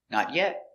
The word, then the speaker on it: not yet: new sofa all together not yet first i want to go look for a new sofa pronunciation not yet the t is a stop t we don't say not yet it's stop not yet yeah the